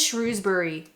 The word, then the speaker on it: Shrewsbury: It is Shrewsbury. Now, Ash very kindly sent me 2 ways to pronounce this particular one.